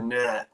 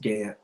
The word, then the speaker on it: Gant: Oh, there's Leanne again, who said that sometimes people call her Nat, but it's pronounced Gant.